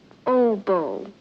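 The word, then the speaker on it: oboe: plays Everything clarinette saxs I believe that's pronounced OBO OBO he plays it what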